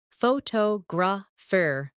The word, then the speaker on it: photographer: For example, photograph, photographer, and photographic. The stress moves, and that changes the sound.